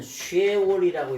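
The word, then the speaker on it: שְׁאוֹל: 여러분, 수월이라고 하는데 수월을 어떻게 쓰냐면은 이렇게 수월 이렇게 기록합니다. 수월이라고. 요거를 근데 읽기는 어떻게 읽으냐면 쉐월이라고 읽어요.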